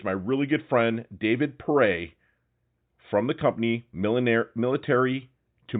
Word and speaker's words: Pere: I got my leatherneck friend from the West Left Coast, my boy David Pere, like hip hip hooray, but pronounced Pere.